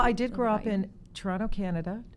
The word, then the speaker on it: Toronto: Well, I did grow up in Toronto, Canada. Toronto, as we say. We don't pronounce that T.